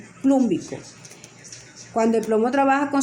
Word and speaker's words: plúmbico: Entonces, comenzamos con el negativo, luego tenemos el plomo, y no se dice plómico, sino plum, como le dije anteriormente, la raíz plum, y como trabaja con la mayor, plúmbico.